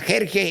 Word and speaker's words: Jerjes: hablamos Castellano por qué voy a pronunciar mi palabra jerges que es mi nombre se llama jerges en todos los idiomas querido donde le dé